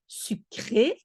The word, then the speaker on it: sucré: But if you say sucré, E, you see the accent? There's an accent on the last E, then you pronounce it E.